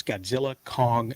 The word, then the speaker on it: Godzilla x Kong: in their titles, uh, only the American streamers will pronounce the X in the name. So if they're going with the Japanese version, of this type of title, it is Godzilla Kong New Empire.